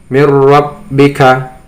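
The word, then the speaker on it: مِنْ رَبِّكَ: Membacanya tetap dimasukkan tetapi tidak dengung. Mir rabbika. Nah ya, mir rabbik. Jadi tidak boleh dibaca dengan dengung, misalnya mir rabb, tidak, tapi langsung mir rabbika.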